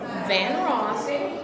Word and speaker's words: Van Ross: They can contact me, just Google Charlotte Van Ross, or they can Google C. Van Ross. And that the way it's spelled is like Luther Vandross without the D.